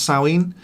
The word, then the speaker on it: Samhain: but it's also a saueen so samhain is how it's written s-a-m-h-a-i-n uh it's pronounced sowing and it's a which